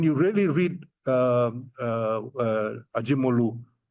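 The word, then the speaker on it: Acemoğlu: Basically, when you really read um uh Ajimolu, that's how you pronounce it in in in Turkish and and the others, what they are basically saying is settler colonialism is the best.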